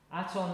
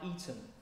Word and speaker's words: Aton: And the reed cliff is more like an E, so it sounds more like Eton.